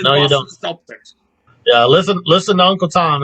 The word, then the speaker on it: Celtic: I like the Incomplete too, but that Celtic Cross, man. And yes, I'm saying Celtic, not Celtic.